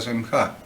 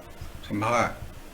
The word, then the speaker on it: semijá: Y ni siquiera cómo se pronuncia, porque la palabra semijá sería semjá, semjá, semjá.